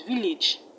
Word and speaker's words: village: is pronounced as is village village the edge in advantage is not pronounced as age is pronounced each advantage advantage vintage footage hope that's clear so the a's are pronounced as short e e is not advantage